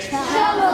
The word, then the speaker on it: cello: Rhymes with the word jello. We don't say jello, we say cello.